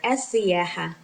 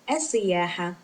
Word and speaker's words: السياحة: We can just answer with one word, السياحة, which means tourism. السياحة, السياحة, السياحة. And you can see that lam here is not pronounced because it's a sun lam or a silent lam because it's followed by